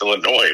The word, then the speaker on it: Illinois: for the Navy, and I pronounced Illinois as Illinois with an S. Yeah. Yeah. And I was like, what are you talking about? It's Illinois, Marky.